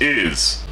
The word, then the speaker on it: Isz: To tell you, it's pronounced Isz.